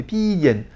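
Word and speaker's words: 便宜: Et en fait, plus prononcé, en fait, ça fait pi yen.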